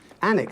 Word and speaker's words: Alnwick: Alnwick, that's how you pronounce that, is it?